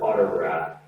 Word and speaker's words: autograph: We use the word autograph. Let's try the pronunciation. Autograph. T sound comes across as a D sound.